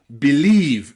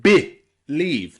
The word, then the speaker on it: believe: defend, and that word believe again, believe. The first E there is not stressed. Believe, believe, okay? The leave is stressed, so believe. That means that the first E we pronounce I.